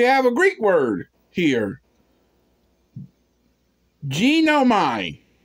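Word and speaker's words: γίνομαι: a Greek word here genomine genome g-i-n -o-m-a-i genomine I think that's that sounds about right the right way to say it which is translated is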